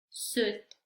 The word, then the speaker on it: suit: Ya vamos a saber que en estas palabras la I no se pronuncia, vamos a pretender que no está, que no existe, la vamos a ignorar.